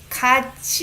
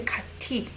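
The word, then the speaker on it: 같이: really well good good kacchi you don't pronounce it as a kathy this is chi sound right okay you don't say kati this is exception this is together kaza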